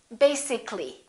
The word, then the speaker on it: basically: it has two syllables if we add a l l y we don't say li this a disappears so the a is not pronounced and we say basically take a look at